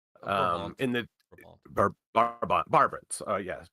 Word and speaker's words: Brabant: He was born Hieronymus von Aiken 1450, and I'm gonna massacre this pronunciation because I'm not Dutch. It's a Hertgenbosch in the Duchy of Barbarant, Brabant.